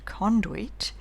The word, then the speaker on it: conduit: pal suit, sweet, ruin, circuit, conduit rhyme with shirk it and beyond it, but it's hard to